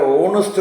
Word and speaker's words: honest: അതുപോലെ ഓണസ്റ്റ് എന്ന് പറയുമ്പോൾ HONEST ആണ്, അതിൻ്റെ H സൈലൻ്റ് ആണ്, അവറിൻ്റെ H സൈലൻ്റ് ആണ്. രണ്ടും ഒന്ന് ഓണസ്റ്റ് എന്നാണ്, ഓണിസ്റ്റ്, അതിൻ്റെ ഉച്ചാരണം ഓണിസ്റ്റ് എന്നാണ്.